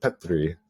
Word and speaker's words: Petteri: original founders of Oura, Petteri. He would, I'm mispronouncing that because when you do two consonants in Finnish, there's like a up and down kind of sound. So it's Petteri.